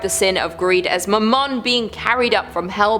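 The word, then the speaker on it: Mammon: the human heart with I think they actually said it right this time they said mman personality said M man they said my last name I feel so accomplished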